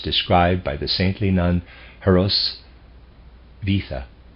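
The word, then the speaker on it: Hrosvitha: If you subtract all that specifically belongs to Goethe, you come back to the Theophilus described by the saintly nun Heraus Vita.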